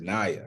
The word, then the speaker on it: Naya: Listen, first of all, let me apologize for mispronouncing your name. It is Naya.